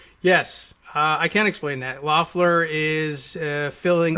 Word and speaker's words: Loeffler: Loeffler is filling... Or Loeffler is the proper Loeffler, pronunciation. right, so Loeffler is filling someone else's term.